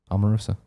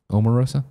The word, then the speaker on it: Omarosa: a great question Greg do you pronounce Omarosa within ha or an O sound I do was enough Omarosa Omarosa Omarosa one of the Roses